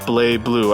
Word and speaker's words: BlazBlue: And yeah, it is pronounced BlazBlue. I guess they borrowed the silent Z from the French language.